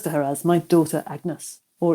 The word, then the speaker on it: Agnes: And he refers to her as my daughter Agnes, or it would have been pronounced close to the French, Agnès or Anis.